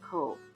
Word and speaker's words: Cobh: Later, following the Irish independence from Britain, it was renamed Cobh, which is the Irish word for cove and is pronounced the same.